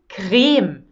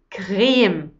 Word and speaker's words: Creme: Die Creme. Die Creme. So das E am Ende ist stumm. The E at the end is silent.